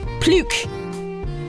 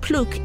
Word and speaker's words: plouc: How do you even pronounce that? Pluke.